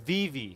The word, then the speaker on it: VeVe: immediately by the chat omegatron is saying it's pronounced Viv so VI magic how did you say it I said Viv magic Viv sounds more I would have said